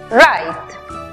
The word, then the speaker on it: write: Tenemos W muda antes de R al comienzo de la palabra. También vemos que termina en E muda al final, precedida de una consonante. Aplicamos entonces el sonido abierto de la I. La pronunciación final para la palabra escribir es write.